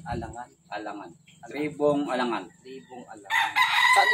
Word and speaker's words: Alangan: Paano bigkasin? Alangan.